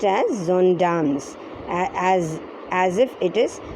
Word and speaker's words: gendarmes: silence said one of the gendarmes it's actually pronounced as zondam's girls because this is a french word for french policemen they are called zandams it it sounds it uh it is spelled